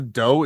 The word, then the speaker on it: dhow: The Ping Shin 101, along with three other vessels, would circle I think it's pronounced a dough, DHOW.